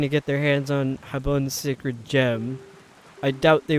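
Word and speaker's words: Jabun: Oh, by the way, I'm pronouncing that Habun because I think it's funny. Because it's close to the Spanish word for soap.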